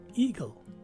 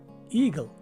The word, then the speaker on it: eagle: E and A in the first syllable take a long E sound, as indicated with the use of the macron sign on top of it. The letters G, L, and E in the second syllable take a G-E-L sound but with a short or schwa sounding letter E. So this word is pronounced as eagle.